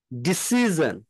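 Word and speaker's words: decision: যদি দেখেন ডিসিশন আচ্ছা তারপরে এই আই ও এন যদি টি থাকে এই আই এন এর সাথে যদি টি থাকে সেক্ষেত্রে আমার সন উচ্চারণ হবে আর যখন যদি এই আই এন এর সাথে যদি এস যে লেটারটা এটা যদি থাকে সেই ক্ষেত্রে আমার উচ্চারণ হবে জ ডিসিশন আপনি দেখবেন যদি আপনারা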